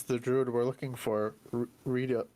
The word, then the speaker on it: Reidoth: Reidoth? Reidoth. Reidoth.